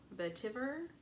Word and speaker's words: vetiver: And the base, I believe it's pronounced vetiver, and patchouli.